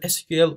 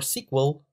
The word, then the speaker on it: SQL: yellow structured query language let's pronounce it SQL or sequel is the primary interface